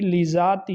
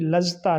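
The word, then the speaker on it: لذاتہ: آپ کو بتلائیں گے۔ تو بہرحال صحیح لذاتی ہی ہے، صحیح لذتا نہیں ہے۔ کچھ لوگ اس کو صحیح لذتا پڑھتے ہیں، اور بھی کافی ایسے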